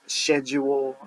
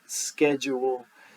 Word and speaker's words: schedule: fancy people pronounce this schedule I've always had heard it pronounced schedule and maybe that helps you not mix up the spelling because you pronounce that c in there okay three more to